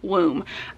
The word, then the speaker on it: Womb: The other one I need to talk about is Womb, and this one is actually pronounced like room, but if you had a speech impediment and you couldn't say your R's.